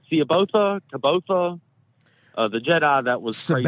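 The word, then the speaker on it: Jorus C'baoth: lot for his name caboa kaboa the Jedi that was I think I never knew how to pronounce it the way Timothy Zan pronounces his name is yoris Sabo that's how he pronounces it the first time I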